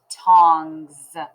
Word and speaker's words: tongs: thumbs up on z tongs be careful with that z sound at the end i know what you're thinking you hear a z but if you wrote